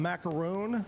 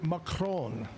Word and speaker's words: macaron: Now, we always call them macaroon. Macaroon, but it's actually macron is how you pronounce it. Macron. It's French.